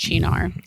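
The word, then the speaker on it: Cynar: It's spelled like c y n a r, right? Yeah. But it's pronounced chinar.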